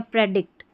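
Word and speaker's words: predict: तो प्री डिक्ट या प्रेडिक्ट। क्या? प्रिडिक्ट या प्रेडिक्ट। तो यहां पर देखिए प्रिडिक्ट और प्रेडिक्ट दोनों तरीके से प्रोनाउंस कर देते हैं।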